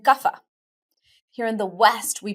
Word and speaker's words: Kapha: They are what we call in Ayurveda Vata, Pitta, and Kapha. Here in the West, we pronounce those Vata, Pitta, and Kapha.